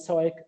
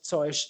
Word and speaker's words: Zeug: Again, this is just 3 different ways to pronounce it with a k sound at the end, Zeug, Zeug, Zeug, depending on where you are.